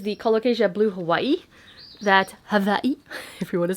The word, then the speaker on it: Hawaii: That Hawaii, if you want to say it correctly. My brother works on Hawaii, so he explains how if you're saying it properly, apparently it's Hawaii with a V.